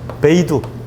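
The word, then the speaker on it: BeiDou: 이걸로 끝나는 게 아니라 베이두. 베이 그러면 뭐냐면 북쪽이야. 두는 두. 북두 칠성할 때 북두를 중국 애들은 베이두라고 읽어. 베이두. 북두 시스템.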